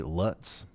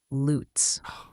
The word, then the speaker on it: Lutz: right l u TZ Luts hey Ryan it's actually pronounced loots like boots but with an L it's a common one